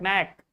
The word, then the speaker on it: knack: When you find K before N, you should immediately know that K is silent. You are not going to pronounce it. You should start your pronunciation from N, not from K.